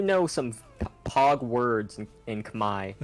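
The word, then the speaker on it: Khmer: what is that it's called Uh Kamai it's it's spelled weirdly it's k-h-m-e-r imer Kamai uh it's the language for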